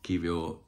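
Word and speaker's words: Kiwior: be more sophisticated but I think it's just pronounced Jacob kivio um uh it's supposed to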